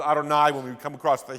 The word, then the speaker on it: Adonai: aspects of this material J is Yahweh or Jehovah or we pronounce this Adonai when we come across